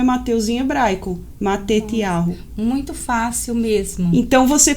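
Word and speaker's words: Matityahu: Então aqui tem o nome Mateus e aqui tem a pronúncia de como é Mateus em hebraico, Matetiahu.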